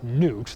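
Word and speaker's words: Gnut: The robot in that case is called Newt. The silent G doesn't work in film very well, so Gort.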